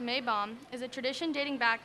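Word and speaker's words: Maibaum: The Maypole, in German, pronounced Maybaum, is a tradition dating back to the 16th century.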